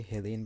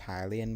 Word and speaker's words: Hylian: that we always say hilly in banachus even though it's technically pronounced hylian but it's one of